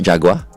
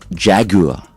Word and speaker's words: Jaguar: And pronounce the That's true. Like it's it's not Jaguar. It's not Jaguar. It's Jaguar.